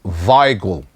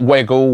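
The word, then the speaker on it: Weigl: the real gamer Creed finally says Robbie it's pronounced vigle remember yesterday I was talking about this player Julian vagel from I wasn't sure of the pronunciation he's telling me vle vagle not wiggle wiggle waggle vle all right so thank you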